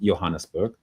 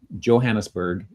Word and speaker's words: Johannesburg: And in South Africa, more commonly, it's pronounced Johannesburg. But the Johannesburg is commonly accepted in the English language. So both of those pronunciations are acceptable, apparently.